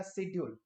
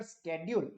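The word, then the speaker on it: schedule: तो शेड्यूल, जिसको हम लोग शेड्यूल बोलते हैं, ब्रिटिशर्स भी शेड्यूल बोलते हैं, अमेरिकन उसको प्रोनाउंस करते हैं एज स्केड्यूल।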